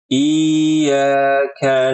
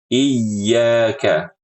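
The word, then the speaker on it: إياك: huruf ya di sini dibaca dengan iyaka iyaka iyaka iyaka seperti itu Dan jangan berlebihan sampai iyaka iyaka iyaka sampai makhraj huruf ya itu tertutup ya ini salah juga jadi yang benar proporsional iyaka iyaka begitu Kemudian pada kata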